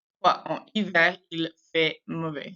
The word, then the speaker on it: fait: En hiver, il fait mauvais. So we don't pronounce the T at the end of fait. We don't say fait. Il fait.